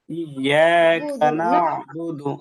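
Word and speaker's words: نَعْبُدُ: যাচ্ছে বেশিক্ষণ হয়ে যাচ্ছে আমরা সময় না নিয়ে নাবুদু নাবুদু নাবুদু ইয়াকাবুদু ইয়াকাবুদু দ্রুত বলব একটু বলে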